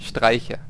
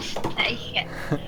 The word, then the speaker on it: Streiche: It's again like I. Streich. Streiche. Der Streiche.